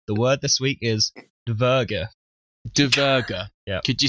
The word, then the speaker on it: dvergr: Yep, the word this week is dverga. Dverga. Yep. Could you spell that for us?